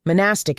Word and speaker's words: monastic: Monastic is how it is said because she is too dumb to say it correctly.